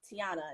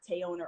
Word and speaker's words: Teyona: So at the panel, I was like, hey, my name's pronounced Teyona, not Teyona or whatever she said.